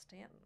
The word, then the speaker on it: Staunton: was mary baldwin college and pronounced stanton and though there is a you in it yeah i believe you